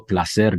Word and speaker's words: Placer: podcast today I'm very happy to have Eduardo pler joining us Eduardo welcome Michael that pronunciation was extraordinary it's Exquisite it's so rare